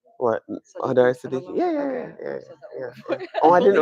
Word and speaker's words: Hodari-Sadiki: Hodari-Sadiki?